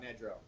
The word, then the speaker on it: Nedrow: to wheeler elementary and is it nidro or nedro okay i'll put the phonetic spelling here so i don't mispronounce it go give a shout out nedrow perfect thank you very much